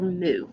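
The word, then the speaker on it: μ: is a greek letter it's the greek letter mu not like moomoo cow but mu okay some of the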